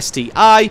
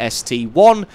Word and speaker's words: ST-I: goes for the ST1 you don't call it the STI because that would be stupid you call it the the ST1 because that is the Mark or the model number written in Roman numerals so back to the